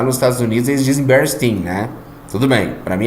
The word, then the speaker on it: Bernstein: Para mim, a terminação Stein é Stein, porque na Alemanha é Stein, deve de ser um nome alemão, mas lá nos Estados Unidos eles dizem Bernstein, né?